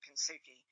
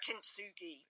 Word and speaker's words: Kintsugi: I'm not pronouncing it properly. I'm pronouncing it the way it's spelt in English, which is Kintsugi.